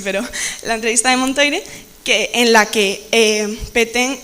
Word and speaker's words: Montoire: También debido a la entrevista de Montoire, que no se pronuncia así, pero la entrevista de Montoire, en la que Pétain y Hitler establecen un régimen colaboracionista que se llama la Francia de Vichy.